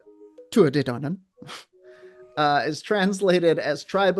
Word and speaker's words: Tuatha Dé Danann: uh tu danan pronounced tu danan uh is translated as tribe of danu.